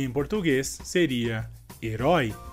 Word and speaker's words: herói: Nesse caso, a diferença de sílaba forte entre português e espanhol nessa palavra seria também porque temos a diferença do acento em uma diferente letra entre português e espanhol. E por essa razão, a sílaba mais forte nessa palavra em espanhol seria a primeira sílaba é, e em português seria a última sílaba roi.